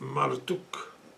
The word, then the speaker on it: Marduk: Um they think his name is probably pronounced Maruk um and that it's derived from Amar Utu the immortal son of Utu who was the sun god U.